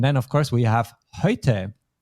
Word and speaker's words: heute: EU becomes ÖI in German. This time you did it very well, but let's just do it one more time. Heute.